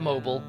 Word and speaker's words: Mobile: Not mobile, not mobile.